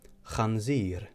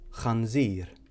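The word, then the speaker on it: ħanżir: So once again, we have khanzir or khobs. So the letter on its own is pronounced ch. So we have khanzir, khobs.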